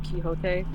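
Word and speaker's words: Quixote: Like English speaking places, it's quicksotic, but like technically the word is kiote.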